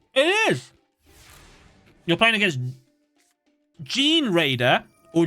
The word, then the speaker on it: Gene Raider: Gene as in like genes, like DNA? Or is it like generator as in like generating something? Generator but with a D.